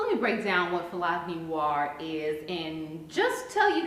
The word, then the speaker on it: Philogynoir: See, that's what I thought, but you keep pronouncing it wrong. A philogynist is someone who admires women, so yes, you could tack noir on there to mean black women, but you keep saying phylogeny.